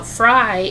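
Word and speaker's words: Frey: Now, Fry is spelled F-R-E-Y.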